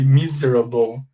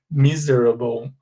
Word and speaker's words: miserable: This S here sounds like the letter Z in Português. Tem som de Z, okay? So we say miserable, miserable.